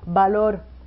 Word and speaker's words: valor: Bueno, malo, valor, c'est un V, mais on prononce B.